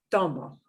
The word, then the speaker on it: tomo: So last syllable is the mo, right? So we punch this in more. Tomo, tomo.